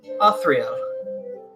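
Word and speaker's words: Authreal: your first name my name is uh Austria how do you spell that a-u-t-h-r-e-a-l there's there's no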